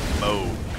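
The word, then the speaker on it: Mohg: to use the horse it is pronounced by the way I got clarification pronounced Moog okay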